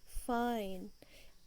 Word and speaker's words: fine: आप आई पे नोटिस करो, आप इसको फिन नहीं बोलोगे, जैसे अगर आप TIN टिन है, बट FINE वाला जो स्ट्रक्चर है वो है फाइन।